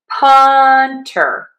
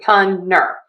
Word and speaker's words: punter: I went from punter to punner. But again, think about syllable stress and stressing syllable number 1. Punter, punter, punter, punter, punter, punter. Either is fine, and I hear both.